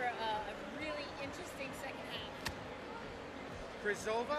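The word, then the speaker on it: Křížová: Krizova, I think is how to pronounce it, scored a power play goal.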